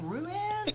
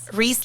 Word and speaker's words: Ruiz: How do you pronounce your last name? Ruez or what? No, it's Reese. Reese like Reese's Peanut Butter Cup.